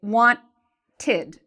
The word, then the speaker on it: wanted: In this case, it has 2 syllables. It has the want and it has the id syllable. So if I pronounce this, I would say wanted, wanted. So you see there's two parts, two syllables to the pronunciation of this.